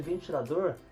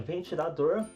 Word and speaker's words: ventilador: para comprar um ventilador então tem ventilador a sílaba tônica é a última sílaba a sílaba dor e sobremesa nós temos